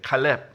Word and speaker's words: 칼렙: 완전 뜻이 달라져 버리죠 그래서 이제 칼렙 이렇게 정확하게 이제 발음하면 좋은 거 시고요 그런데 칼렙은 이름은